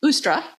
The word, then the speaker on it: Eostre: Pagan Culture by the goddess istra or sometimes pronounced ustra the goddess of fertility